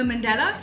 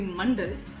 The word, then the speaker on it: mandala: mandara is now the mandela is essentially the sanskrit word for circle which um the correct pronunciation of which would be mundal but the anglicized version is what we all go for the mandela artwork traces